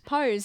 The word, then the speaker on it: Pose: We did a Oh, that's how you say it. Pose. Yeah. What did I call it? Pose. Pose. Pos. I think I call it P.